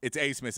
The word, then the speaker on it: Abmas: and I've done and looked into it, it's Asmus is how it's pronounced.